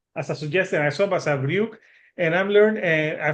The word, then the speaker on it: Basavriuk: And that's just Basavriuk.